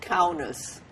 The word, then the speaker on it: Kaunas: What was the name of the town where you were born, and please spell it? Okay. Kovna in Yiddish. Now it's called Kaunas.